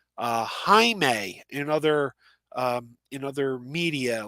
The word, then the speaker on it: Jaime: But I still tend to call him Jamie Reyes because that's how we were introduced to him as Dan DiDio, the head of DC, always called him Jamie on panels.